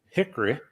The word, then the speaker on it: Hickory: I grew up in Hickory North Carolina or as we say here Hickory there's no o in it you know fewer syllables yeah if you're syllables